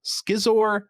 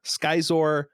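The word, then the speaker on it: Scizor: got seizor schizor skyzor i've always said izor because like scissor um yeah i mean i always used to say scissor but i think i got corrected to size or at some point it really should just be sizzler he's supposed to have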